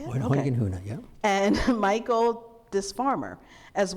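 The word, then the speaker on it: Hoyningen-Huene: working with the negatives of Edward Steichen, George Hoyningen Hune, is that how you say it? Hoyningen Hune, yeah.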